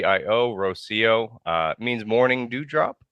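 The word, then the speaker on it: Rocío: please apologize to her but tell us the pronunciation it's Rosio so r o c iio Rosio uh means morning do drop in case that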